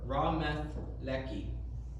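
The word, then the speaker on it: Ramath-lehi: When Samson finished speaking, he threw the jawbone down and called it Ramethelek, or Ramethleki. That's how Strong's Bible Dictionary says to pronounce it.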